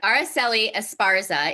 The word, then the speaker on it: Araceli Esparza: Araceli Esparza is the founder and owner of Wisconsin Mujer.